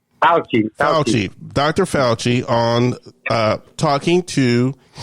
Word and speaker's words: Fauci: Falucci? Is it Falucci? Am I pronouncing it right? Fauci.